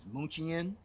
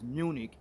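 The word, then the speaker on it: München: of the aircraft you see there it is pronounced as moochie in and this particular aircraft is named after this historically german city which is called mnuchin which is actually pronounced as munich in the english language which was actually founded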